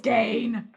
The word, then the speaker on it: Ed Gein: fuck out of me, they call Ed Gein Ed Gein. No. I don't like... It's Gain. No! Unless we've been saying it wrong our entire lives, but no, we haven't. Gein. It's Ed Gein. It's not... Ed Gein. Is that Gein? Gein. Like... Gein. It's Gein. It's like Ramstein. Gein.